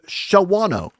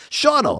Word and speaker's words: Shawano: Going up to Shawano. That's not how you say it. Shauno.